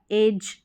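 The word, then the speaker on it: edge: तो इस तरीके से यहाँ पर इन स्पेलिंग्स में देखें कि तो डी साइलेंट है, डी को पढ़ा नहीं जा रहा है, डी के अगर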